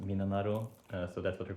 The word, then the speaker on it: 3776: In Japanese, it's pronounced Minanaro, so that's what they're called.